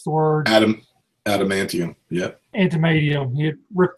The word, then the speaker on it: adamantium: Yeah, but it was when Magneto had stripped Wolverine of his animation, whatever how you pronounce the word. Adamantium.